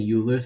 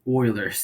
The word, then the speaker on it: Euler: I keep on saying Euler's, but it's Euler's. That's how you say it.